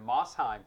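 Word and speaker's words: Mosheim: Against one of the greatest rivals there for West Green High School there in Mossheim, Tennessee.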